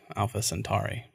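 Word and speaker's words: Alpha Centauri: be like Centaur and I would say Alpha centu like Alpha sari like Atari yeah so we're together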